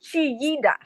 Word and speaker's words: Chillida: Chillida. Okay, spell that again. Chillida. But in Spanish, in Espanol, it would be Chiida.